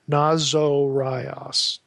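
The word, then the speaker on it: Ναζωραῖος: Not catch the way I pronounce this. Nazorios. Notice there's a long O there. Nazorios.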